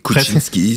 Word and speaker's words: Koutchinsky: Je le prononce bien, c'est bien comme presque, ça. Oui, Kuczynski, c'est parfait.